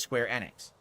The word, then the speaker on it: Square Enix: And then a few years ago, during one of the big press conferences, they said Enix about 7,000 times themselves. And I realized it's pronounced Enix, not Enix.